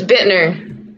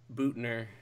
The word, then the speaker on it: Buettner: say it for me it's Bitner that's how you say it that yeah you probably would not have guessed no I thought it was like Boer because the UE but you're are you